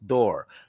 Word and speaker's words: Durr: she has authored her name is beverly jones door uh did i pronounce the last one you sure did you